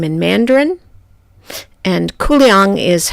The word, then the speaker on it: Kuliang: cooling is the town's name in mandarin and qu yang is how you pronounce it in the local Virginis dialect 100